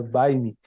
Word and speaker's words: Baime: Esse nome é meio esquisito, mas se pronuncia Baime.